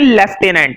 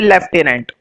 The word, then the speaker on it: lieutenant: इसके अंदर कहीं पर भी एफ नहीं है, लेकिन फिर भी इसको क्या पढ़ते हैं? लेफ्टिनेंट, है ना। सही प्रोनाउंसिएशन इसकी यही है, लेफ्टिनेंट।